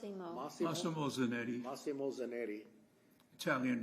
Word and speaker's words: Massimo Zanetti: My question is, with Massimo Zanetti, how you pronounce it? Massimo. Massimo Zanetti.